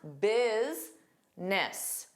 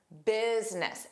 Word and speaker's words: business: But notice how the first sound sounds like biz. I is. So you see a vowel that is the letter U, but the pronunciation of it has a different sound. Remember English is not a phonetic language. You cannot learn the pronunciation from the spelling. So here we have two sounds. Bizness. Business. And the first sound is stressed.